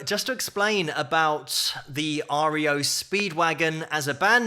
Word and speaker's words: REO: blackboard so they just changed the pronunciation from Rio to REO Speedwagon and that was it